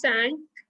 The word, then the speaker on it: cinq: 5 is sank.